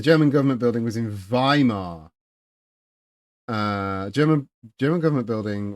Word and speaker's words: Weimar: It's definitely pronounced Weimar.